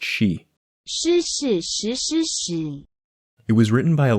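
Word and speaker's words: shi: some variation in tone every single word in the poem is pronounced she it was written by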